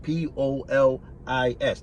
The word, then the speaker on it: Polis: o l i s police p o l i s not police like police officer no i'm saying boom